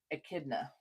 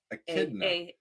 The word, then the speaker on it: echidna: Echidna. Echidna. Echidna. Echidna. Echidna. Echid. Rock and roll. Echidna. Oh, huh? Echidna. We'll figure it out. What's up, Sander? Echidna. So the emphasis is on the second syllable.